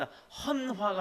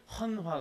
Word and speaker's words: 헌화: 꽃을 그 혼 환 헌화가 아니라 헌화하고 번호 아 근데 이제 발음상 헌화로 보이죠 대통령이 이번 구조 뭐 뭐죠 국립 묘지에 가셔서 뭐 그것을 헌화 했습니다 라고 하는데 헌 확 아니라 헌화 입니다 이 그렇게 마찬가지로 꽃을 꼭